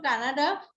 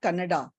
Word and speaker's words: Canada: It's not Kannada. You was I thought you were talking of Kannada in India. That that state. It you are talking of Canada, right?